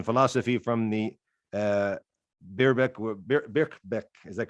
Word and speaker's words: Birkbeck: abbreviation it's in philosophy from the uh bierbach birkbeck is that correct how i'm pronouncing it yep back back yep college in